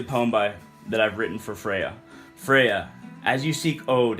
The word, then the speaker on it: Freya: is a poem to Freya. It's spelled Freja, but I call her Freya, and she is the Norse goddess of love.